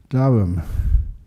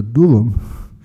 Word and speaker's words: Durham: I should actually I pause there because Darham is the way that most people pronounce that uh town or city over in UK but that's not the right way to pronounce it.